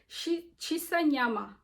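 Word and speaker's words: shisa nyama: How can I not pronounce that word? Chisanyama.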